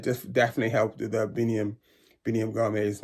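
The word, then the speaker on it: Biniam Girmay: And it just definitely helped with the Biniam Gourmet's name. So check this out. This is to Myron. Biniam Gourmet. Thank you. I really appreciate that. Biniam Gourmet. See that? Biniam Gourmet.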